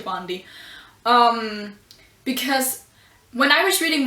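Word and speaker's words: Sabaody: I think people pronounce that differently, but I pronounce it Shabandi.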